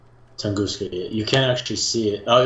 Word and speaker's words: Tunguska: But that's really all the events, and we'll actually show you the Tunguska, or how did you pronounce it? Tunguska, right? Tunguska.